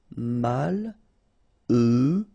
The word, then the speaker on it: malheureux: Malheureux. H doesn't exist, okay, so you get mal, heureux.